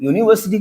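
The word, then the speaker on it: university: लेकिन यूनिवर्सिटी को जब प्रोनाउंस करेंगे तो यह आ जाएगा यून कुछ लाइक दिस यूनिवर्सिटी ठीक है अब यूनिवर्सिटी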